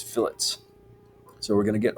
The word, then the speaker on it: fillet: add our fillets okay not pronounced filet that's uh steak this is fillets so we're going to